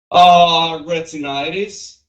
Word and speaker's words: retinitis: Be careful, you have to say retinitis or retinitis because otherwise it's going to sound like rhinitis, which is inflammation of the nose. So we need to kind of pronounce this T that is in between right here.